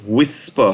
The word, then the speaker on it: WSPR: a digital mode and just the word whisper how we pronounce wspr just remember it's low